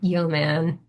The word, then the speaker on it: Yeoman: So, for example, Git, if you don't have Git installed, Node.js, Neovim, um, and then finally something called Yeoman. I believe that's how it's pronounced.